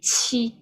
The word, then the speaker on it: qi: So qi will be like you have more, you burst the air more. So this one will be qi.